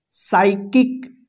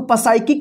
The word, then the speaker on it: psychic: यहां पे देखिए PSYCHIC, क्या पढ़ेंगे, क्या पढ़ेंगे, साइकिक। इसको पसाइकिक नहीं पढ़ेंगे, देखिए SY है ना तो इस पी का उच्चारण नहीं होगा, साइकिक पढ़ेंगे।